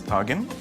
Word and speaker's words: tajine: Many are cooked in the same sort of clay pot, the tajine that's associated with Morocco. Only in Egypt, the words pronounced differently. We pronounce it as tagen.